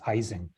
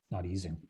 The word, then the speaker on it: Ising: At least here in North America, we almost universally mispronounce his name as Ising, not Ising.